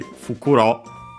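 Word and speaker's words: 袋: electricity practical can also then adapt it and that bukuro is actually fukuro again the voicing for the reason already mentioned uh it means uh accent on the last syllable uh I wonder if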